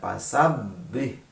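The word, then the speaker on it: فَسَبِّحْ: Di sana ada fasabbih, itu ditekan ya, bukan ditahan. Rabbika ada rob, ada tasdidnya juga. Itu cara membacanya adalah ditekan ya, tapi tidak ditahan lama.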